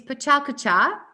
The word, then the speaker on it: PechaKucha: It's Pechakucha, okay? And then you pronounce it in this way.